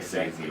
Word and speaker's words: Sese: I've been calling you Cease for like 3 weeks. Cause you know what is the way it's spelled, it doesn't look like Sese, right?